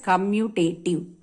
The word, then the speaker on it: commutative: second property as commutative so most of the students when they pronounce it they go always say it wrong they may they commutative something else some other words they'll be using but actually we pronounce it as commutative clear now here for